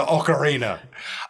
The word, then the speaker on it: Ocarina: Pier then I learned it was closer to Ocarina uh this is what I'm talking about though